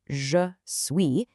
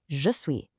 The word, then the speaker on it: je suis: Did you notice how the E sound in je pretty much disappears? It's not really je suis, it's more of a quick je suis.